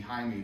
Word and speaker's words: Jaime: So when you say Jaime, Yeah, what's the full name? Jaime Garcia. There you go. Yeah. They may not know. Well, no, I And I understand thought that. you mispronounced it and said Hyman.